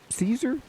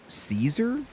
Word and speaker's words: Caesar: So old old Latin has the hard C.